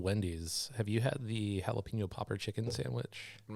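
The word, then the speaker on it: jalapeño: I think it's actually pronounced jalapeno. Starts with a J.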